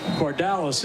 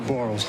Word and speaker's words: Bardalis: And someone in the YouTube chat actually said it is Bardalis is his last name, not Barles. We said you said it right the first time, so now we know that.